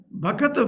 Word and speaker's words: bhakata: Here when you sing, don't sing bhakta vrinda. Bhakta vrinda may be pure Hindi or pure Sanskrit. But if you say bhakta, it becomes 2 syllables. But Swamiji's laya will be cut off. Here we require 3 syllables. So bhakata vrinda. That's how we have to sing.